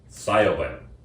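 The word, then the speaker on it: Siobhan: Sobin. Cyberman. Could you spell it?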